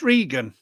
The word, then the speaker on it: Regan: I'm sure it's Regan. Regan, okay. Terry said he'll confirm. I'm thinking it rhymes with vegan.